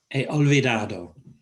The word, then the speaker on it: he olvidado: He olvidado. Don't pronounce the H, it's not he or he olvidado, he olvidado.